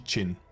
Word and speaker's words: Qin: She's Chin. Like as in Qin, like Chinese name Chin.